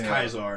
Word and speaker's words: Caesar: it's like except whenever you're at the camp they call them caesar but like everywhere else like with the scouts it's kizar and it's like what the does no one know how to say this man's name properly you think you'd know